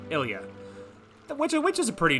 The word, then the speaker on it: Ilia: something really quick okay i looked up a quick pronunciation it is ilia um it is like you know phonetically it is like i l l the letter e and then like u h i guess phonetically uh ilia which is a pretty